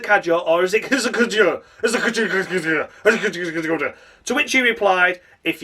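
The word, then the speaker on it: Hadjar: That's right, I'm able to say it correctly because we had no fucking David Croft this weekend. We had Harry Benjamin once again doing a sterling job, able to pronounce the names of the drivers correctly.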